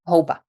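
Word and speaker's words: houba: and then pronounce the word for mushrooms in Czech. Hoba. So it doesn't really sound that close. No. Hopkova, Hoba, but children were always laughing at me from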